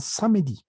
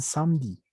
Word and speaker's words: samedi: Muchos dicen samedi, samedi y otros dicen samedi. ¿De acuerdo? Ese samedi es porque se les patina la E.